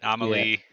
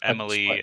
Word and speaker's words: Amelie: You find out that Amelie, or Emily as Die Hardman, who, spoilers, obviously. Amelie/Emily/ it depends on which voice actor is pronouncing the name, is an extinction entity.